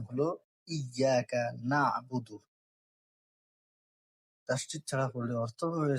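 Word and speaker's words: إِيَّاكَ نَعْبُدُ: আমরা অনেকেই পড়ার সময় তাসদ খেয়াল না করেই বলি আইয়াকা নাবুদু। কিন্তু সঠিক উচ্চারণ হল ইয়াকা নাবুদু।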